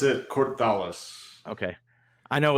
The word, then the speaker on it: Kort'thalis: exactly sure how to say it is it court dallas publishing or how do you how do you say that exactly i pronounce it cortholis okay i know it's of a different language